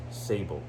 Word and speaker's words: Sable: Like Abel with an S. Yeah. Abel? Like No, ABLE? But with an S in the front? Well, it's spelled like saber, but Oh. he pronounced it Sable.